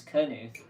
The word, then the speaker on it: Knuth: is it loose or Knuth is the K silent it's canoe it's not silent could Timmy cook news